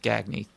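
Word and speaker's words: Gagne: Well that's because it's actually pronounced Gagny.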